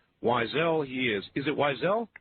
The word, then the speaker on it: Weisel: out there cruel people i'm sure who would pronounce his last name weasel but weasel he is not wisely he is is it wisely yep that's the